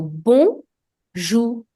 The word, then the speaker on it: bonjour: And OU creates the sound OU. So bonjour.